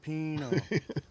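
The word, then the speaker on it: jalapeño: show Ricky J Sil you're saying the J's like an H Ricky jalapeno not your laughing H what in the are you guys talking about jalipeno that's how you pronounce it I know how to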